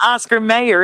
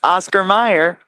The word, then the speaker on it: Oscar Mayer: But the way it's pronounced makes people naturally think of Meyer.